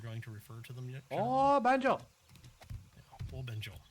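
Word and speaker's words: 便所: to refer to them Benjo Benjo all one all one word no stressing the O Fu your and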